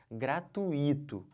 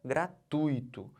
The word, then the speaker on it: gratuito: fala isso aqui gente gratuito não pode falar o quê gratuito se você falar gratuito vai sair caro para você vai sair cara você vai a questão da prova Tá bom então não falem gratuito O certo é gratuito eu tô fazendo o